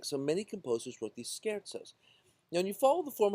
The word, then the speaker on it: scherzo: e r z o z is pronounced as TZ and S C is pronounced as an SK Scaro so skaro is this word it